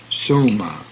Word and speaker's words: soma: isle hence div' Prakriti the o is a semi diphthong pronounced as the word no hence soma au is a diphthong